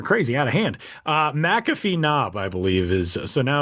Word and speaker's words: McAfee Knob: Appalachin Trails in Virginia, it's Macaffy Knob. I think that's how you pronounce it. It's got I I would imagine McAfee. Yeah, that sounds more right. McAfee Knob.